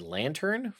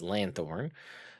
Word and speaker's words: lanthorn: I really want to read lantern, but it is lanthorn.